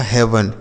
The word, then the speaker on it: heaven: ठीक है, HEAVEN, तो एच से हो गया ह, ई ए का उच्चारण एक ही मात्रा और वी ई से व, यन से न, लिखा हेवन। यह क्या लिखा? हेवन।